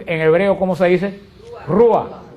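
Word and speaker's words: רוח: acuerdan porque espíritu en hebreo Cómo se dice rua y rua quiere decir soplo por eso que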